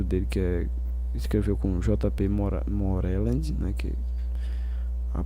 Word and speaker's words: Moreland: Moreland, né? Que a pronúncia em inglês é J.P.